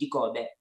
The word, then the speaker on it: Dikobe: So many of people cannot pronounce the name, or Dikobe comes at a different time because it's actually Dikobe.